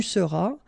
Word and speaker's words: seras: Then tu seras, final S not pronounced, tu seras.